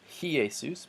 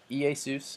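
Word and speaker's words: Ἰησοῦς: a apostle but they're this smooth breathing mark does not make a an H sound so it's not ha hasta los or ki a sous but EA sous and a pasta loss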